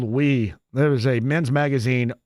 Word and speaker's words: Wii: U I used to call it Oui because I was a hillbilly. Nah, it was called Wii.